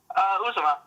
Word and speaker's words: Uzomah: How do you say it? Uzomah. You had it right.